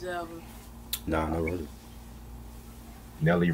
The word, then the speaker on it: Nelly: Nelly rhymes with Kelly.